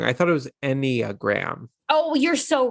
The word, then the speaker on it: Enneagram: I thought it was Enneagram. Oh, you're so right. Enneagram. It is Enneagram. It is Okay. Enneagram.